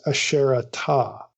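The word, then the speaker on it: Asherata: Instead, it is preferable to render the goddess's name as Asherah-Ta, in accordance with the spelling and reading of her name everywhere outside the Bible for more than 1,000 years.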